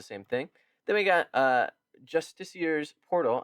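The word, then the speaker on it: Justiciar: Then we got Justicier's Portal. I'm saying it that way because I played Baldur's Gate and that's how they say it.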